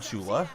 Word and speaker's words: Shula: I mean, Don Shula, which rhymes with Mula, was a great head